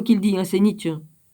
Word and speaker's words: Nietzsche: le célèbre énoncé de Nietzsche « Dieu est mort ». C'est pas moi qui le dis, hein, c'est Nietzsche. C'est Nietzsche, ou Nietzsche. Ouais, ben on doit le dire comme ça.